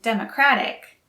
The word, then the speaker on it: democratic: democratic again the stress is on the first syllable for democrat and democratic but the stress is on a second syllable